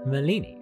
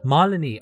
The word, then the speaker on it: Malini: maleeni thank you so much for joining me on the podcast it is so cool to have you with me awesome to be here it's pronounced one Molony oh my god I've been saying it wrong